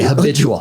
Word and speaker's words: habitual: Okay, habitual. Okay. Habitual. Okay, so I did take a shower. The accent on the HA, right?